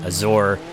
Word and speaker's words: Azure: name Azure I've seen I've seen people pronounce it different ways like some people say Azor some people might say azer people might say aure I think of it as Azure as an Azure Lake